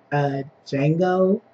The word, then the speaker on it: Django: But anyway, we are here to talk about Django. D is silent.